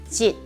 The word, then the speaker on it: 職: 職的職，是一個很短促的音。職，求職。